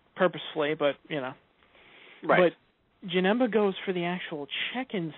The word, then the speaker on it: Janemba: Because, okay, I look on Wikipedia and I see Janemba. But it's interesting because the way they pronounce it in the English version, for some strange reason, they pronounce it as Janempa.